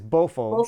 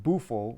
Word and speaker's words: BOFO: is BOFO, BOFO Hawaii. which I don't want people to think that I'm saying bufo, which is the No, frog, right?